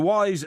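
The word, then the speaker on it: Wize: sniffer right because it's called a wise mirror but it's spelled w-i-z-e and it's being developed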